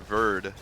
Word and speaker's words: Verd: So apparently I got Verd correctly. That's how you're supposed to pronounce that.